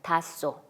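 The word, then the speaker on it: 닿소: 근데 닷소 했을 때 그것을 표준발음법에 맞게 발음을 한다면 히읗 다음에 시옷이 왔기 때문에 쌍시옷으로 발음을 하면 됩니다. 그냥 닷소, 이런 것이 표준발음입니다.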